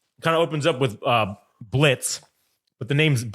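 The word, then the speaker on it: Blitzø: So basically, the story in the pilot kind of opens up with Blitz, but the name's it's spelled Blitzo, but the O is silent, which is I thought that was fucking hilarious.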